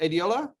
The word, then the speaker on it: Adiola: So am I pronouncing that correct, buddy? Is it Adiola? Yeah, you got it.